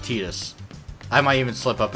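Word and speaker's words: Tidus: tedious for Kingdom Hearts I know it's supposed to be Titus in Final Fantasy 10 but this is just imagine this different character alright that's how you pronounce it tedious I might even slip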